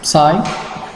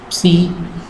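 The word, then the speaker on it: ψ: it is represented by psi pronunced as psi or c this stream function is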